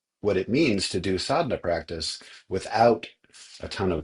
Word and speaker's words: sadhana: it means to do sadna practice without a ton of background or preparation. So what is assad? I keep saying this word sadena. It's spelled s a d h a n a.